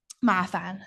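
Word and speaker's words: 麻烦: Mafan.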